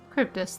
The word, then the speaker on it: Charybdis: I dare say the Charybdis will be fine here on. Cryptus, that's how you say it.